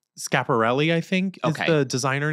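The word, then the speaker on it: Schiaparelli: to butcher the name I think it's called scap or shop okay it's scaparelli I think the designer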